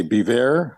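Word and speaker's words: Biewer: Odell is a beaver, and it's spelled B-I-E-W-E-R. That's B-I-E-W-E-R.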